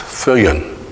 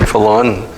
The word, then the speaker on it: Fillon: So, but I began pronouncing it Fillon, which is unusual, but the real name in the Philippines is pronounced Fillon. With the double L.